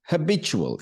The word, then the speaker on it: habitual: care of them be a provider next one habitual h a b i t u a l